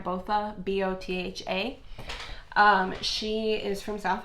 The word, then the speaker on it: Botha: I believe I'm pronouncing her last name right. Botha, B-O-T-H-A.